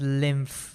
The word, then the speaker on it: lymph: All right, and it's pronounced as lymph with an F over there.